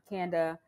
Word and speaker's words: Kanda: self-sustaining wondering though what you said before founding canada canada chocolate am i saying it correctly mm-hmm but i but i welcome everyone that i'm not a stickler so it's candid chocolates but i welcome everybody yeah candle panda